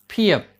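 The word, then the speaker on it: 피읖: देखिए मैंने इसका उच्चारण कहा है फियप, फ। ये फ नहीं है। फ ये उच्चार अरबी, फारसी या उर्दू में आता है। हिंदी या किसी भी अन्य भारतीय भाषाओं में ये फ होता है, फ नहीं।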